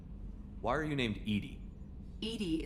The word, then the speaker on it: EDI: are you named Edie Edie is the phonetic pronunciation of EDI that is an acronym for where are you